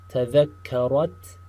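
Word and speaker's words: تذكّرت: Again, pay attention to the ta, the sound of the ta in the very front, and the sound of the shadda, right? That small delay in the pronunciation of the word. That tells you there's a shadda.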